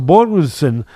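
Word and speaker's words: Björnsson: And I give credit to Bornson. Am I pronouncing it right? Yeah. I think that Bjornsson showed the edge there.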